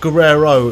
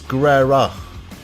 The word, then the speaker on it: Guerrero: It's not Guerrero, it's Guerrera.